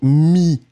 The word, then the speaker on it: mis: mots le premier celui que nous avions c'était mis on ne prononce pas le final mi le deuxième mot